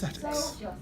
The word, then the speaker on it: aesthetics: in a branch of philosophy which is called ethics so it's a II so that a comes first actually the eight is silent our American friends may disagree no I'm saying that because aesthetics is possibly one of the least known disciplines